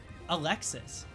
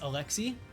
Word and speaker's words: Alexis: But uh Alexis, but it's pronounced Alexi in France.